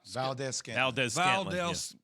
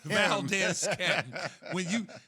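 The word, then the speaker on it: Valdes-Scantling: Valdez Scantling. Him. Valdez. Valdez Scantling.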